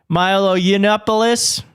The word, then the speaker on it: Milo Yiannopoulos: Arresting Milo someone pronounced it for me. Milo Yiannopoulos.